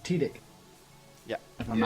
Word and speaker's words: Tydek: it pronounced Tidik. Yeah. If I'm Yeah, not Tydek, mistaken.